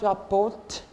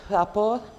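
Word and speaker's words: rapport: want to wrap or don't pronounce the T at the end it's not report its rapper rap o means to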